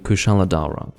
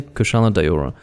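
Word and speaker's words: Kushala Daora: his name to be completely honest i should be saying kushaladhara that should be what i'm calling him but i say kasha de ora because a lot of the names that i first heard pronounced were pronounced by an american and so if i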